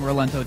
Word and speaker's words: Rolento: was uh how wrong rolento team that's how you pronounce that hero then we got